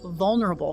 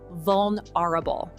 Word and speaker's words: vulnerable: People often say vulnerable fine, but it's actually vulnerable. Can you hear that tiny missing E?